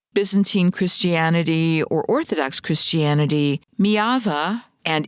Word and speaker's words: Myjava: Their story begins in a place called Mava. It's spelled M Y A Va. It looks like it's my Java if you're using American English.